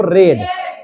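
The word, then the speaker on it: read: हो गया रीड रेड रेड रीडिंग रीड्स लेकिन स्पेलिंग रहेगा रीड ए पढ़ेंगे भले इसको रेड चलिए दूसरा अंग्रेजी जो बनाया होगा ना वो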